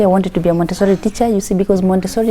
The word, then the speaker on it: Montessori: Montessori is how you pronounce it.